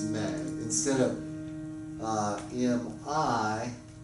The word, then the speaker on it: me: It's spelled ma, but it's me.